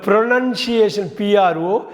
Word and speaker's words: pronunciation: அப்புறம் முக்கியமானதுங்க, நம்ம ப்ரொனன்சியேஷனை பற்றி பேசுகிறோம், ப்ரொனவுன்ஸ் பற்றி பேசுகிறோம். ஆனால் வந்து இந்த ப்ரொனன்சியேஷன் ப்ரொனன்சியேஷன் CIATION நல்லா ஞாபகம் வச்சுங்க.